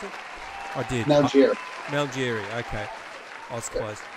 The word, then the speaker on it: Malgeri: Is that how I pronounce it? I did. Malgeri.